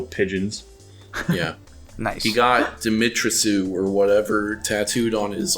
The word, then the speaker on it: Dimitrescu: Lady Dimitri? Dimitrescu. I don't think that's right. It definitely is. It's just without the French accent.